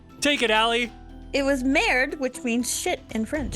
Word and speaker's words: merde: He said merde because in French, if there's an E on the end, you don't always. Actually, there is no E on the end, but you don't pronounce it.